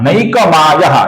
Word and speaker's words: नैकमायो: उसी प्रकार नैकमायः ये जो नाम है इसका उच्चारण नैकमायो ऐसा होता है।